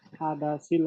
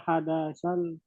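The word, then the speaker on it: الحدث: dibacanya Tadi dibacanya rafa hadasil haidi. yang benar. Yang benar rafa hadasal haidi.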